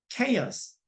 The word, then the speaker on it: chaos: 그 다음에 CH가 키읔으로 나올 때가 있어요. 키읔 나올 텐데 보시면 뭐 혼돈이라고 하는 chaos. 예, chaos. 이거 지금 제가 쓰보면 제대로 한 건데 chaos. 예, 그렇죠. 이게 그래서 지금 크 발음 나죠. CH가 chaos.